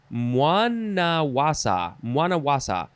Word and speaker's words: Mwanawasa: Mwanawasa.